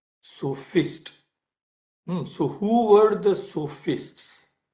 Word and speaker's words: sophist: as they are called it is s-o-p-h-i-s-t so fist so who were the